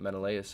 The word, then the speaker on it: Menelaus: cutscene we're here menelaus i know how to pronounce that menelaus i'm a genius king of sparta i got